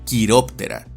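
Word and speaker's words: Chiroptera: As por ejemplo, este nombre se pronuncia y castellaniza como Carcarodon, mientras que este otro se pronuncia y castellaniza como quiróptera y sus miembros son llamados quirópteros.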